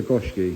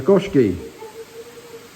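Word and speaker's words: Goshiki: like a kowaku but it is a gooski a what a gooski I just call it a fish love if you want just a fish stunning look that's how you say it yeah say it again Goki yeah gooski yeah if I was to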